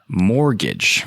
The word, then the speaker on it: mortgage: this article was originally published by uncapped Mortgage mortgage most people say mortgage but it's spelled mor T GA GE which translates to